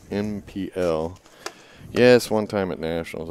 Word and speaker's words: NPL: and then for the nipple chicks or the way it's supposed to be pronounced in pl yes one time at